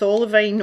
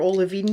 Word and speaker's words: olivine: I just noticed it with Olivine, or Olivine depending on how you want to pronounce it, and the Pink Flamingo.